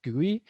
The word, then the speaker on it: GUI: interface short for gui you can pronounce it as gui um are basically whatever